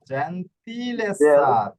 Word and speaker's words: gentilezza: per lo sguardo la gentilezza জেন্টিলেসা, এভাবে বানানটা করেন।